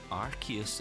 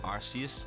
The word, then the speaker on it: Arceus: a little look at pokemon legends arches i believe is how we're pronouncing it now it's not arceus like we're all having a laugh with and so it's